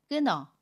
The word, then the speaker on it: 끊어: 에요 또 다른 해볼게요 끊어 를 보면 닫힘 리 은 힐과 모음 어가 만납니다 그러면 끊어 라고 발음 해요 받침 히 s 는 발음하지 않고 요 받침 e 는 이응 자리로 가서 너 로 발음 해요 그래서 끊어 라고 발음합니다 이번에는 격파 치밀히 s